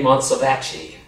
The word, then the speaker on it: Montsovacci: And his name was Ray Montsovacci, that rhymes with itchy scratchy.